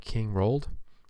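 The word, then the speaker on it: King Roald: easiest guy that you can fight here is king rolled that's how you say his name but he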